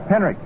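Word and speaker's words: Henrich: Tommy Henrik. H E N R I C H. It pronounced as though there was a K on it. Henrik in right field.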